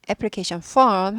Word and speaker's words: application form: 애플리케이션 폼 하면은 신청서. 이거 발음 조심하셔야 돼요.